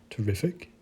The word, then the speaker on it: terrific: the first word magic accentuation on the second syllable for the second word terrific and the accentuation on